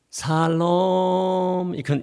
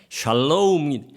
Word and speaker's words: 샬롬: 거예요 그래서 어떤 사람은 어떤 사람은 살롬 그런 사람이 있는데 내가 이게 샬롬을 왜 치면서 노래하면서 올라가라고 했기 때문에 샬롬의 발음을 정확하게 하면 발음해 보겠습니다 여러분들이 이스라엘 나라에 가서 관광할 때 모르면 무조건 샬롬 하면 저쪽에 같이 답을 샬롬 그분하면 다 통하도록 되어 있습니다 샬롬 여러분들께서 영어를 아시면 SH 이렇게 나갑니다 그래서 제가 샬롬 샬롬